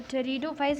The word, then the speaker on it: pteridophytes: तो pteridophytes इसका pronunciation pteridophytes है, ये भी आप लोगों को बता दूँ, it's not petridophytes or something like that.